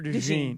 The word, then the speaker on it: DeJean: Is that how you pronounce that? Is it Yeah. DeJean or DeJean?